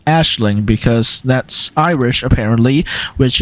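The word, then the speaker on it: Aisling: with the song I've been told this is pronounced Ashling so uh it's not pronounced aing or eeling or whatever it's pronounced Ashling because that Irish apparently which is also the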